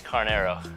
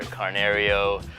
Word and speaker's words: Carnero: I hear like on videos they tag us in after games, it's like either Carnerio, they'll say it right, or they'll botch it even more than that. I'm like, it's Carnero. Carnero, it's very simple.